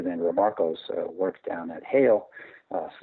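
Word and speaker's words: Haile: And you don't have to go look any further than Remarco's work down at Hale. Some people pronounce it Haley, H-A-L-E, H-A-I-L-E.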